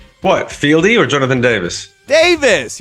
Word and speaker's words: Davis: Davis. You're like Jonathan Davies. I'll get fucked. That's how we say it here. Jonathan Davis or Davies. That's what we say, Jonathan Davis.